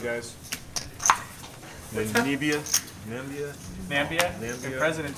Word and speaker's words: Namibia: Are we pronouncing that right, guys? Namibia?